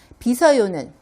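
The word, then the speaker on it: 빗어요: b 저요 라고 읽어요 비서 요는 쉬우 받침 있으니까 이럴 때 비서 요로 읽어요 빚어 요는 무엇을 만드는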